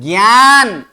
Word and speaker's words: ज्ञान: ऐसे ज्ञान नहीं है ये न का उच्चारण नहीं करना है ज्ञ क्या क्या उच्चारण करना है ज्ञ यानी ज्ञान ग भी उच्चारण नहीं